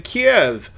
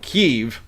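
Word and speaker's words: Kyiv: at an Airbnb in Kiev or suddenly how they pronounce it now keev I I I don't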